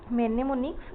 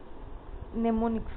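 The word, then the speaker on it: mnemonics: करि परिबे the term मेनेमोनिक्स is associated with it एम टा एक्चुअली कौन अच्छी माने हमर एटी एम टा ताको माने साइलेंट रहइबो नेमोनिक्स कहबा एसोसिएटेड विथ एटा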